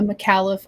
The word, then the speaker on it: Micallef: tonight um i'm actually smoking a mccallif i want to say it properly it's the experience yeah is that how you say it yes okay i